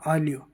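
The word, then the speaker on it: aglio: जैसे आलियो, आलियो बोलते हैं लहसुन को, लहसुन जो होता है उसको क्या बोलते हैं? आलियो, और इंग्लिश में बोलते हैं गार्लिक।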